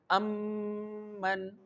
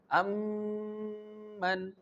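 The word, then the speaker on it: أَم مَّن: The sound is held at the lips.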